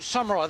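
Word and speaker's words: Saumarez: It's Fort Samurai. That's how you pronounce it, That's yeah?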